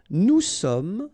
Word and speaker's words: sommes: Nous sommes, final S not pronounced.